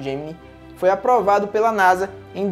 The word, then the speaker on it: Gemini: Assim, o projeto Gemini, que inicialmente era pronunciado Gemini, mas depois de um tempo passou a ser pronunciado Gemini, foi aprovado pela NASA em dezembro de 1961.